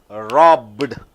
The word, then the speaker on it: robbed: a single syllable stopped but here rob robbed two beatings that's so simple so